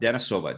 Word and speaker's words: Denisova: So, please welcome Olga Dennisova. Did I pronounce that name correct?